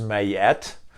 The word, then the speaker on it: Ma'at: And I'm going to touch on a very old concept from Egyptian mythology and cosmology that spelled Ma'at, but pronounced Mayet.